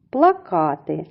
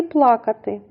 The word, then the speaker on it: плакати: це слово плакати плакати плакати звучить так само як і плакати але наголос в цім слові припадає на другий склад плакати дзвони дзвони ділимо